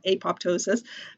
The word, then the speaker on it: apoptosis: and we call that apoptosis or if you pronounce it prop that's the that's the Massachusetts way you're saying it apop Tois um but it's was